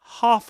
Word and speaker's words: half: Half a sandwich. So, have the verb to have, but half half with a long o half a sandwich, please.